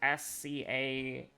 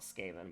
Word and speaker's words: Skaven: It's like Scaeven or something. I always call it Skaven, but that's the wrong one. That's the wrong pronunciation.